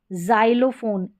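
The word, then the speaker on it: xylophone: फिर देखिए नेक्स्ट यहाँ पर है जाइलोफोन, एक्स को ज प्रोनाउंस कर रहे हैं इसमें, जाइलोफोन।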